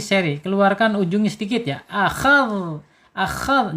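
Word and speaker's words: أخذ: Akhadh, jangan akhaz.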